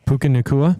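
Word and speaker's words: Puka Nacua: you say his name the one white out Puka nikua Puka Puka nikua that's it he's out yeah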